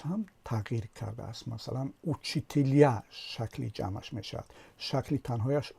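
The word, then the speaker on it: учителя: است، علامت جدایی آخرش پرتافته شده است و تلفظش هم تغییر کرده است. مثلا اوچیتیلیا شکل جمعش میشد، شکل تنهایش اوچیتیل، اما شکل جمعش اوچیتیلیا، یعنی زده در هیجای آخر افتاده است.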